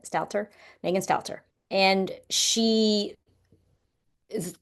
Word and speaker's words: Megan Stalter: Megan Stalt Stalter, I believe is how you say it. Stalter.